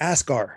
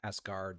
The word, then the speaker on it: Asgard: is partly responsible for asgar to be destroyed asgard did i say it right he said asgar sorry asgard it sounded like it sounded